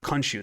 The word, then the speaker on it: Khonshu: Khonshu, that's how you say it, okay.